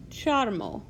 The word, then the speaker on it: ĉarmo: It sounds just like the English letters C-H. Ch, ch, cho. Like in the word charm, which in Esperanto is Ĉarmo.